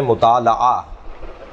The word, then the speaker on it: مطالعہ: اگرچہ صحیح تلفظ ہے مطالعہ، مفاعلہ، مقاتلہ، مناظرہ، جی مقابلہ، اس وزن کے اوپر مطالعہ، لام پر زبر ہے، لیکن معمولاً ہمارے یہاں